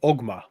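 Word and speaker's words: Oghma: in the sand there is a temple of omma okay or however you want to spell it o g h m a yeah yeah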